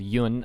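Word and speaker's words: Hyun: with this kid called yun i think it's pronounced yuen it's h-y-u-n but i'm pretty sure the h is silent if i'm wrong forgive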